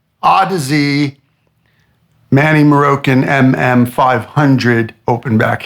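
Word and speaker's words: Audeze: not cuz I like I have Manny morok o dis or how do you how did Bob Bob Olson told me I'm pronouncing it wrong it's odsy odsy Manny morok mm500 open back headphones and this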